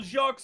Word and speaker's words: Jacques: Well, Jacques and Buddy just sounds off somehow. You don't pronounce the S.